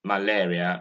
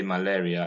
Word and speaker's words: malaria: and in malaria and many nigerians use the word this is sound a instead of air now you've seen it is malaria next time you want to pronounce it say malaria and not malaria and this is very